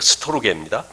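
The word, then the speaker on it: στοργή: 영어로 스톨게라고 발음을 써보니까 스톨지라고 자꾸 나와가지고 좀 혹시 오해가 있지 않을까 싶은데 스토르게입니다.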